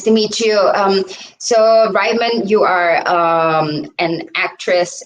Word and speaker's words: Ryman: the show Rayman sne hi hi are we pronouncing your name right could you is it rean or Ryman or Ryman Ryman Ry okay yeah it's you're our first Ryman